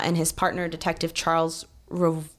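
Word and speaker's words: Revoir: his partner detective Charles rir I hope I'm saying that right it's re v o i r rir yeah we're going to go with it little French pronunciation French they were actually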